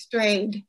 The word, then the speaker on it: Strayed: Is that how you pronounce her name? Do you know? Yes, it's Strayed.